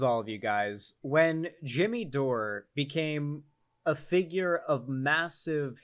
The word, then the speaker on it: Jimmy Dore: no way what's going on here um it's pronounced jimmy dore that's true it is um but we mispronounced